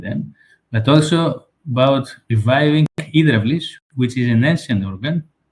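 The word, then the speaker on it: ὕδραυλις: The first one is the church organs, and the second one is an ancient organ, the Hydraulis, as we pronounce it in Greek, which is the ancestor of the church organ.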